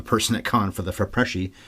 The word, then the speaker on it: FIPRESCI: This movie got no Oscar nominations, but won the, I think it's pronounced Fipresci, F-I-P-R-E-S-C-I, all in capitals, at the Cannes Film Festival.